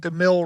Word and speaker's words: DeMille: DeMille." And it's just so weird that it worked out. Yeah. I think we would have used a line anyway, but it's so weird that DeMille rhymes with McGill.